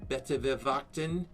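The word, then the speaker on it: Buitenverwachting: It's correctly pronounced Betewewachten, and it is from Constantia, right on the ocean of South Africa.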